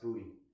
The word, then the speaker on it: Boutte: His last name is pronounced Boutte.